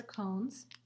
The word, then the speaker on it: cone: silent e right because this would say o con but the e makes the o say its own name o mm cone so the other word